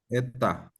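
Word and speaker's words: ἦτα: Y luego la que parece N, ¿cómo se pronuncia? eta, Eta.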